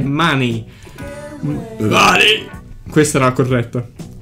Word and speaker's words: Money: Money, scusate, la pronuncia corretta è Money.